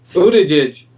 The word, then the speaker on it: Buttigieg: If they can ever pronounce his name. Buttigieg.